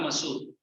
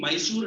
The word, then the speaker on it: मसूर: Masoor dal, Masoor. I see many people pronouncing Mysore dal. मतलब ये कौन सा प्लेस मैसूर से आता है मतलब मैसूर नहीं it's मसूर चना dal.